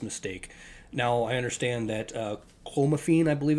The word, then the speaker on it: clomiphene: Now I understand that clomiphene, I believe it's pronounced, is a banned substance worldwide for athletes,